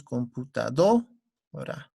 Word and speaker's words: computadora: En ese sentido, si es que analizamos la siguiente palabra es computadora. ¿Dónde está la mayor fuerza de voz, chicos? En la do. Decimos computadora.